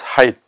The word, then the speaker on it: Fahrenheit: h-e-i-t is pronounced as height so actually it has to do a lot with the temperature heat thermometer etc but the last part of this word is not heat but height so we will see